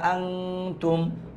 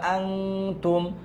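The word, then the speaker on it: أَنَا: আপনার কারো কোশ্চেন আসে জবরের উপর খালি আলিফ তাও টানলাম না এটা হচ্ছে আনা পড়ার একটা নিয়ম আছে আনা আলিফ আনা টানতে মানা চার আনা টানা কোন চারটা আনা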